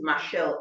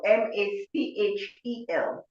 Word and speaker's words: Machel: Our young people must go and, her name is spelled Josina. Josina, Josina, and her surname is Machel, Machel.